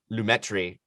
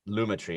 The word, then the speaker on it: Lumetri: but i've been saying lumetri for years and i learned a couple years ago that it's uh luma tree which makes sense because luma is like a color thing but i kind of